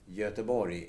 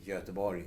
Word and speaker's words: Göteborg: the name of the city should be in its native language so yatabori is yatabori and nothing else and you can actually